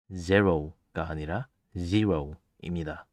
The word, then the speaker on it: zero: 참고로 숫자 0의 영어 발음은 zero가 아니라 zero입니다.